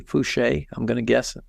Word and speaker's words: Foucher: It's Foucher, so it's probably Fouché.